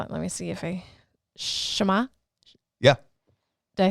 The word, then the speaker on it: Shema: And when I was in group, we had that concept taught as, hold on, let me see if Shema? Yeah. Did I say it right? Yeah, the Shema.